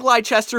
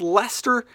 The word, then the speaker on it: Leicester: with Leicester City that's right it looks like ly Chester if you look it up but it's pronounced Leicester City they they're one of those small teams